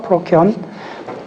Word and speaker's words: 프로키온: 자, 영어로 정확히 읽으세요. 프로키온. 스페링이 안 어려워요. 발음하는 대로 하면 돼요.